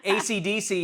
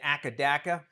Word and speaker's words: AC/DC: AC/DC is supposed to be pronounced one letter at a time, but reportedly people in Australia kept on calling it Akadaka.